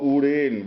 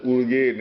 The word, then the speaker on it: Urain: Here is your Urain, which you have mispronounced as Urgain, and here is Dhanari, which you have you named Dhanakosha.